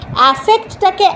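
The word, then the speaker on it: affect: সুতরাং অ্যাফেক্টটাকে অ্যাফেক্ট হিসেবেই উচ্চারণ করতে হবে, আর ইফেক্টটাকে ইফেক্ট বলে উচ্চারণ করতে হবে। ইফেক্টটাকে অ্যাফেক্ট হিসেবে উচ্চারণ করলে কিন্তু হবে না।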